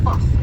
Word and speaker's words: firth: In Scotland, we use the word firth, F-I-R-T-H, to describe a tidal estuary. So that there is the Firth of Forth.